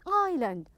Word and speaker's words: island: good it's an island make sure the S is silent so don't pronounce the S an island okay so how about